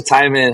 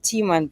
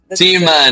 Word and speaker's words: Timan: With that, let me bring in director filmmaker Thyman. Hi, welcome. Hey. Hi. It's actually pronounced Teeman, but Teeman.